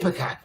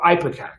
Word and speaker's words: Ipecac: Which is, some people pronounce it Ipecac, or Ipecac. There's different ways to pronounce it.